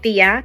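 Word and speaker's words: tía: it's like Auntie um the real word is Thea t-i-a but everybody calls their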